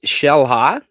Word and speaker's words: Xel-Ha: Uh they've got uh the Shellhala Water Park is right there.